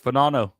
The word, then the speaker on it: Fagnano: They got that uh quarterback, Fenano. It's spelled fagnano, but that guy's pretty good.